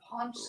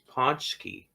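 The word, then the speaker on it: pączki: Ponchski. Oh, Ponchki. Okay. Sure. Yeah, Gross donut. it's pronounced terrible.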